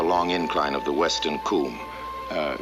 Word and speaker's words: cwm: incline of the western Kum uh Kum that is spelled cwm it's a Welsh word meaning a glaciated valley